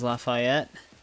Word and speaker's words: Lafayette: back that was yep that was LaFayette that's how it's pronounced broken trust with should